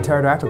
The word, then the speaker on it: pterodactyl: Why can't you hear a pterodactyl go to the bathroom? I don't know why. Because the P is silent.